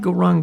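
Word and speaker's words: Gauranga: Now, for this meditation, we divide Goranga into 4 syllables: Go, Ra, Ang, Ga.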